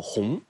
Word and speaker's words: 降: 以降啊，这个降一般读作红。